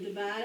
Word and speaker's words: divide: It is vowel, consonant, vowel, so we're going to divide after the vowel. Accent is on the second syllable.